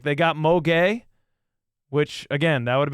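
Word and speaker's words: Gueye: He he said he checked the pronunciation and it's pronounced gay, which is I I mean I stand by it.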